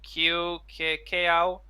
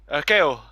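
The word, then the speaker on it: Kaew: I heard name bit difficult to pronounce. Kao. Keo. Yeah, Kao. yeah, it's a difficult one.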